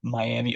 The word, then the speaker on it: Miami: moved up here there's um a town called miam and it's spelled Miami and I didn't I just moved here so I didn't know any better I said something about Miami Oklahoma people were like no it's Mi I